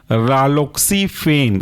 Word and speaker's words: रालोक्सीफेन: तीसरा एग्जांपल है आपका रालोक्सीफेन, रालोक्सी RALOXI, रालोक्सीफेन FENE।